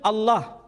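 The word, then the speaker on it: الله: Tidak ada seorang pun di kalangan masyarakat Timur Tengah ketika menjumpai istilah alif, lam, lam, ha, dibaca Allah. Tetapi mereka serempak menyebutnya dengan pronunciation Allah. Menyebut dengan sebutan Allah.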